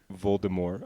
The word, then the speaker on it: Voldemort: Or Voldemort, I believe, is how it's actually pronounced.